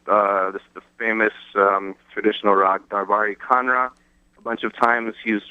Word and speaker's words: Kanada: spells it instead of Kanra, Kanra, he spells it like Canada with a K, Kanada, Canada. It's a different way of pronouncing it a little bit.